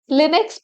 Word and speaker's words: Linux: and feel of Mac OS over Windows Linux Linux pronounce Linux is a family of open-source operating system